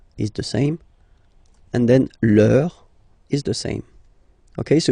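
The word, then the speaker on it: leurs: Okay, so remember, even if you've got this final S, you don't pronounce it, as it was the case already for this word, no, you don't pronounce the final S, vos, you don't pronounce it, leur.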